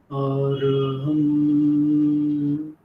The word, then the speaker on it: অরহম: হয় সেই টাইপ এইটাই অরহমটা হচ্ছে ওম উচ্চারণ যেমন করা হয় এ ইউ এম তারপরে একটা প সাইলেন্স থাকে সেই রকম আরহাম আরহাম 10 থেকে 12